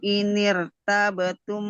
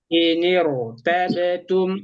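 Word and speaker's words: ارتبتم: Wallahi ya'isna minal mahidi min nisaikum inirtabtum Rohnya tebalkan. ya. Iniru tabetum. Roh tebal. Roh.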